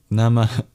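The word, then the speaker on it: namaḥ: It's a little exhale at the end. Nama al together in precise Sanskrit pronunciation.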